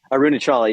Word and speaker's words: Arunachala: make a mental note not to correct people's pronunciations, because it's just so condescending. It's arunachala.